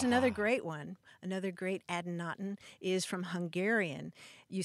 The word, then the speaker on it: adynaton: Earlier, we were talking about adynatons.